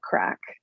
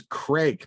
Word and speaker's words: craic: I thought it was some traditional Scottish thing called Craic, and then from the days of the Highlands and kilts and whatnot, bagpipes, but it's Craic.